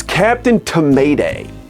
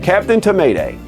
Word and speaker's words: Captain Tomaday: It's Captain Tomaday. Everybody says Captain Tomaday. You're a tomato, and it's a pun with Mayday. Tomato Mayday, Tomaday. Tomaday, Captain Tomaday.